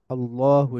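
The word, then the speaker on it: الله: কিন্তু যদি আল্লাহ শব্দ আসে এবং শুরুতে যদি জবর থাকে বা পেশ থাকে, তখন এটা তাফখিম হবে, বা তখন এটা উচ্চারণটা মোটা হয়ে যাবে। যেমন আল্লাহু লা ইলাহা ইল্লা হুয়াল হাইয়ুল কাইয়্যুম। আল্লাহু, প্রথম লায়ের উচ্চারণটা কিন্তু মোটা, আল্লাহু।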